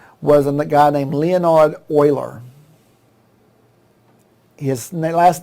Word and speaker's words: Euler: a guy named leonard euler his last name is spelled and even though you say euler it's spelled this way e-u-l-e-r what do you think